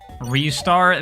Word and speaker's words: Ristar: Ristar? That is the correct pronunciation, yes.